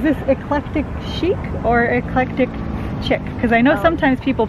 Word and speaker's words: Chic: I they pronounce it chick well I would call it Chic cuz it doesn't have a K on the end yeah that's I think